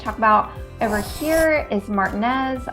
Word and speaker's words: Martinez: about over here is Martinez I know it should be pronounced Martinez I'm a Spanish major I lived in Spain